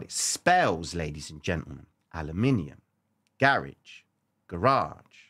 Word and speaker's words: aluminium: And the word aluminium is how you say it. I know you guys in the US, I had to Google it, man. Aluminum. No, aluminium. That's how we say it.